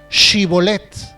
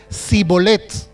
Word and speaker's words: shibolet: que eran de lugar, podían pronunciar sin problemas la palabra shibolet, refiriéndose a un manojo de espigas. Pero los que no, los que no eran de allí, ellos no podían decir shibolet, ellos decían cibolet.